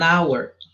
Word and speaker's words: hour: An hour, diferente de house. Hour não tem som, o H não tem som, ele é mudo.